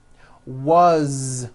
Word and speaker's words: was: As, you pronounce it with a voiced Z. As the phone rang. Was, which is a very common word.